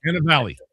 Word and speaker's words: Cannavale: Cannavale.